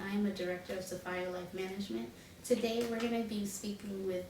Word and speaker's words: Sahfyer: do you pronounce your organization's name it is pronounced Sapphire Sapphire yes Sapphire life management yes earlier years of